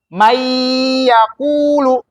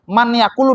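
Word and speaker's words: مَنْ يَقُولُ: Nah, nunnya ini melebur menjadi ya. Jadi nunnya nggak dibaca. Nggak boleh kita bacanya man yaqulu, nggak boleh. Ya, karena apa? Nunnya itu berubah menjadi ya, menjadi huruf yang setelahnya. Makanya disebut dengan idgham.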